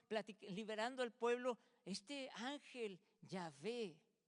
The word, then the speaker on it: Yahvé: No sabemos muy bien cómo se pronuncia porque en el tiempo se perdió la pronunciación, pero sabemos que sonaba más o menos así, Yahvé.